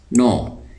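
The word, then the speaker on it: know: नो, ये शुरू में जो के है ये साइलेंट है, तो हम उसको पढ़ते हैं नो।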